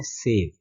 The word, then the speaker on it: save: और SAVE इसको हम बोलते हैं सेव।